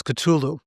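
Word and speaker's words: Cthulhu: the ancient ones is culu and it's spelled c t h u l hu right no one knows how it's really pronounced it's like supposed to be a garbling in the throat sound like it's it's a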